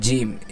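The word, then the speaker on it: جيم: ফা এক আলিফ টেনে উচ্চারণ হচ্ছে যেবার আগার সামনের উপরে দুই দাতের আগার সাথে লাগিয়ে এক আলিফ টেনে উচ্চারণ হচ্ছে কি তারপরে জিম জিমটা কয় সেকেন্ড হবে এখানে দেওয়া আছে চার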